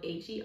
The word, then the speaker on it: Hermione: It's spelled H-E-R-M-I-O-N-E. I called it Hermione, like the girl from Harry Potter is what I'm thinking that name is, but I'm not 100% certain, so I'm sorry if I got it wrong.